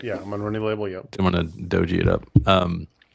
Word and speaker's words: Monroney: Yeah, Monroney label.